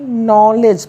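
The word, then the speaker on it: knowledge: ई डी जी ई इसको क्या पढ़ेंगे बच्चे नॉलेज पढ़ेंगे नॉलेज next word B आर आई देखेंगे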